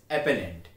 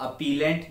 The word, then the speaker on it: appellant: एंड the last term is अपेलेंट। इसे कुछ लोग अपीलेंट या अपीलांट भी प्रोनाउंस करते हैं, बट ये दोनों ही प्रोनाउंसिएशन गलत होती है। इसकी सही प्रोनाउंसिएशन होती है अपेलेंट।